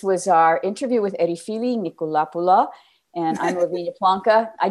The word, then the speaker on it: Nikolakopoulou: And so this was our interview with Erifily Nikolakopoulou, and I'm Lavinia Planka. I did it wrong again. You say your name. I love it. No, I love it. It's Nikolakopoulou, but even Greek people never get it right.